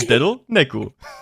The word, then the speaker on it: Dedo Neku: And that with some more Japanese pronunciation, Dedo Neku.